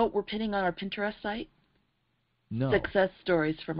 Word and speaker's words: Pinterest: do you say it Pinterest pin oh like interest interest interest with a pen so you're the idea